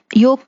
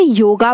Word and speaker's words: योग: इसे योगा बोलते हैं। I don't know why they put an extra are in this simple word.